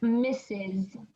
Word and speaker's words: Mrs: a married woman and it sounds like misses yeah perfect okay